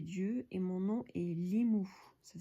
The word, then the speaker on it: Limu: Je suis le messager des dieux et mon nom est Limu. Ça s'écrit L-I-M-U.